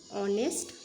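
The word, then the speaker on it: honest: হি ইজ, এখানে হনেস্ট কিন্তু উচ্চারণ হয় না, এখানে কিন্তু এইচটা সাইলেন্ট ওয়ার্ড, ওই জন্য এর আগে আমরা কি বসাবো অ্যান অনেস্ট ম্যান।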